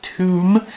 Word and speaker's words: tomb: Okay, well, we also have the word tomb, another tricky word to spell because of a silent letter.